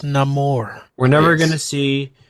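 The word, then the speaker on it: Namor: neyar again we're never gonna see Hercules it's pronounced Nam more we're never going to see Kang again we're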